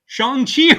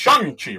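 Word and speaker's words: Shang-Chi: because of this movie, I've been pronouncing Shani wrong for like 30 odd years. It's Shangi, right? It's Shangi. And uh and it's but it's spelled like shangi which is how I ignorant right white dude was pronouncing it and I think that's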